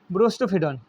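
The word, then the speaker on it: boustrophedon: এটা ব্রোস্টোফিডন। বাংলায় উচ্চারণ অন্যরকম হবে, কিন্তু ইংলিশে ব্রোস্টোফিডনই হয়।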